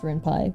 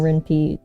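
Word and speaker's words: Ren'Py: she's never had also I know it's pronounced renai but I just keep saying Reni I don't I don't know why like one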